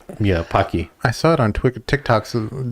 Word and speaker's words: Pocky: How do you pronounce it? Pecky? Yeah, Pocky.